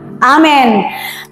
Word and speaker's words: Amen: Biasanya dibilang Amin, padahal itu harusnya Amen.